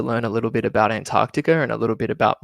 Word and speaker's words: Antarctica: uh live stream is it's Antarctica not antara Antarctica because there's so many people that leave that sea out in the middle it's antar an I can't even say it properly Antarctica that's how a lot of people from the states will call it and it's wrong it's Antarctica um if if there's anyone